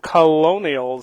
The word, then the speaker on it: Colonials: Excuse my pronunciation there, not Colonels, no, Colonials.